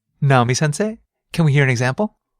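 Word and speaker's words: 先生: But the last sound is pronounced e. It's a long vowel, right?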